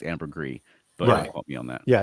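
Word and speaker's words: ambergris: gree yeah Amber gree I think I'm pronouncing it right because it ends with an s but I believe it's Amber gree but me on that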